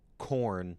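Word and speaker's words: Khorne: K H O R N E is how corn in this context is spelled. Not the band corn and not the vegetable corn, the chaos god corn.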